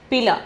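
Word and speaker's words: पीला: Pila. The pronunciation is pila.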